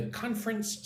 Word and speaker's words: conference: Yanx says, So number three, what do you think of the conference so far? Look at the word conference. I say it with two syllables.